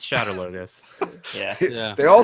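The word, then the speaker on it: Shadar Logoth: It's Shadow Logoth.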